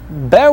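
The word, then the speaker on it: б: It's more intense than the English B. B, be, be. And we also use an e sound instead of e.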